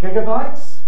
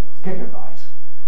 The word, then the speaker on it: gigabyte: is not altogether clear the spelling might indicate gigabytes or gigabytes or even gigabytes indeed the word gigantic gives such support to gigabyte so i go gave